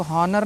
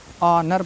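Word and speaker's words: honour: लिखा है ऑनर इसको हनर नहीं पढ़ना है ऑनर पढ़ना है नेस्ट नहीं पढ़ना है नेस्ट पढ़ना है ठीक है क्योंकि ओ से पहले एच आया है तो उसका उच्चारण नहीं करना है ठीक है उसको उसको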